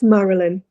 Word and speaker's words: Marilyn: It's Marilyn.